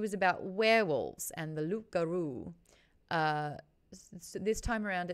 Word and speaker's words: loup-garou: No, the lips didn't touch. There was no P.